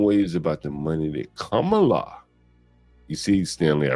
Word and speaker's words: Kamala: they're still making waves about the money that Kamala. You see, Stanley, I pronounced it correct.